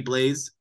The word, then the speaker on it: Blais: Bottom six forward, Sammy Blaise, it's a French name and I'm always bad at that. It's probably just pronounced Blay and we all say it wrong.